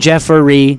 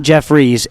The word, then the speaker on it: Jeffrey: Jeffrey, not Jeffries, Jeffrey. 2 syllables. 2 syllables.